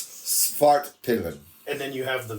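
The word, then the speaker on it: Svartpilen: pronounce it. It's Svart Pillen.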